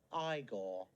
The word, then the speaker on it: Igor: you must be igor no it's pronounced igor my grandfather used to